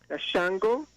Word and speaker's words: Xango: Google the word Shango. It's spelled Xango, King of the Orisha. Could you repeat that, sorry? Yes? S-H-N, sorry? Okay, Axngo, Shango, King of the Orisha.